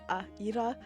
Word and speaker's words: Ira: Ira, because the I is pronounced like an E, and it's Ira. That's right.